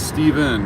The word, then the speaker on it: Stephen: silent n so stephen is it steven or stefan i get called everything you get stefan stephen sometimes they don't even try to pronounce it my youngest son was named after